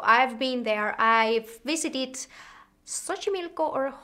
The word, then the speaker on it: Xochimilco: I've visited Xochimilco or Xochimilco, how it is pronounced, and I completely loved it.